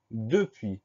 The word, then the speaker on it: depuis: souvent, c'est le mot depuis. Première syllabe de, D-E. Deuxième syllabe puis, P-U-I-S. On a donc une lettre muette à la fin, le S.